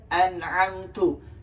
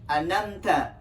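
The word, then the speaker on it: أنعمت: Yang seharusnya kita baca an'amtu, dia dibaca anamta. Jadi menghilangkan huruf ain di sana.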